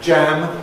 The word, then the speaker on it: jam: Where we need to distinguish between a yam, which is a tropical vegetable, and jam, which is uh a fruit. One of them is a yam, the other one is jam.